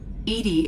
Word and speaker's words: EDI: to the crew why are you named edie edie is the phonetic pronunciation of edi that is an acronym for